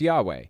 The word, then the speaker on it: Yahweh: in Hebrew some feel that the name was pronounced Yahweh whereas others suggest different possibility no it was Yahweh there are Scholars Hebrew ancient Hebrew Scholars out